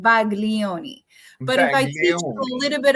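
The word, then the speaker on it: Baglioni: it's Italian it's called Bagon but iach a little bit of Italian actually the G you should not pronounce the G so it's called Balo if I want to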